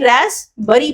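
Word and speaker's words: Raspberry: और क्या है यह रैस बरी पाइप राइट? इसमें जो पी होता है स्टूडेंट्स वो साइलेंट होता है।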